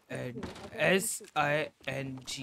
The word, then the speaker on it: Singh: now g a l s i n g h it's sing and m a n g a l it's sing I didn't get can